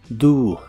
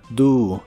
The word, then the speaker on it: do: hace o qué haría la o se pronuncia como una u do do el auxiliar would junto